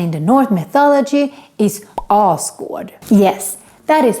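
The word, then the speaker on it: Asgård: marvin movies and in the north mythology is oscar yes that is how it should be pronounced not asgard all squad is the home of the arthur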